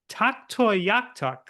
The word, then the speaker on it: Tuktoyaktuk: Well, first of all, I have to commend you on your pronunciation of the city.